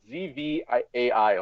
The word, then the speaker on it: Zwei: It's pronounced Zwei. like ZVAI, like Zwei.